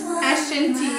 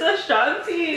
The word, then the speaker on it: Ashanti: It's You by Ashton T, whatever how you say it. or Samia. What's her name? What did you say, Ashton T? What's her name? What's her name? You're a dumbass. It's Ashanti.